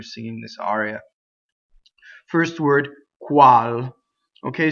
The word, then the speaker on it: Qual: this aria first word cual okay so when you do qu you make sure that you come from up here coo coo coo coo all right don't start from an American place crawl back there where we